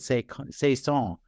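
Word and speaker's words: Saycon Sengbloh: uh say Khan or as I call him pronounce it say say song because I that's how I remember that she pronounced it back when she was in Iowa so maybe things have changed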